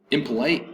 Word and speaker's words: impolite: last one is impolite impolite is in polite three syllables in polite and polite uh third syllable has the accent impolite it's very impolite